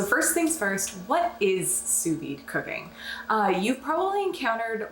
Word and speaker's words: sous vide: second s ensu and you do say v-i-d-e but it's just pronounced veed so that's how you pronounce it so sous-vide in french literally translates